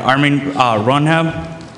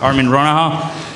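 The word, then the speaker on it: Armin Ronacher: Armin Ronham, right? Ronaha. Ronaha. Armin Ronaha.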